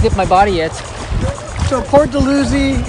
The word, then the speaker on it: Port Dalhousie: my body yet so poor delusion and saint catherine is that how you say it to lucy yeah poor delusion i never knew how